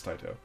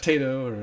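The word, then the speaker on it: Taito: you know the big debate about how you pronounce Tio it's Tito it's TI not tiato or Tao Yeah well yeah and somebody said actually they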